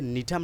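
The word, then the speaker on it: Gnetum: নিতুফাইটা এই নিতুফাইটার যে নিঠাম নামক একটা উদ্ভিদ আছে এটার জি উচ্চারণ হবে না নিতুফাইটা উচ্চারণে নিঠাম উচ্চারণে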